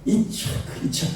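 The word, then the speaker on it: יצחק: 이스라엘 사람들은 이치악 그게 이삭이에요. 이삭 그 발음이.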